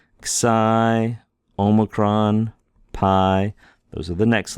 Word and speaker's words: omicron: Omicron is pronounced kind of like an aw sound. Aw. That's different from alpha. So alpha is ah. Omicron is aw.